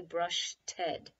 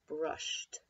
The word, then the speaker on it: brushed: that Edie makes there be careful not to say brush Ted it's brushed brush so we think of the IDI as saying just the Sam T brush so that is